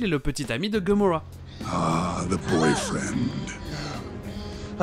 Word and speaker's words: Gamora: Parce que les A se prononcent comme dans Avengers et America. Gamora.